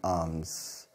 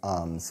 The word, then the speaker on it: alms: word a Ms pronunciation arms arms it's pronunciation is arms this letter L is silent this word arms is